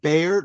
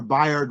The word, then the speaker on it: Bayard: Uh you have to tell me how to pronounce his name, Bayard or Bard Rustin? Uh Byron, I think Byron Russ was, as you know, in King's inner circle.